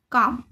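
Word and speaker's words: calm: जब ए ओ यू के बाद एल आता है तो वह साइलेंट हो जाता है। जैसे काम इसमें भी ए के बाद एल आया है। है ना? ए ओ यू के बाद एल आता है तो एल साइलेंट हो जाता है। इसमें ए के बाद एल आया है। तो एल साइलेंट हो गया। तो इसको क्या बोलेंगे? कॉम।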